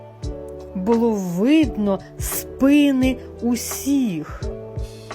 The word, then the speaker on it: спини: розігнись було видно спини усіх спини згинались на рахунок 2 Як бачите це слово в усіх відмінках і однини і множини має наголос на першому складі якщо не запам'ятали то